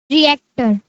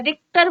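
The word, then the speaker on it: Richter: उसे मेजर करते हैं रिएक्टर रिएक्टर actor yes ma'am बेटा उसे रिक्टर बोलते है रिक्टर के रिक्टर रिएक्टर नहीं बोलते थे रिक्टर बोलते टर के प्रोनाउंस कर ठीक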